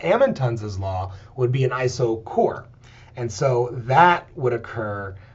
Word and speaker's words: isochore: I know you want to say iso chore but it's pronounced iso core.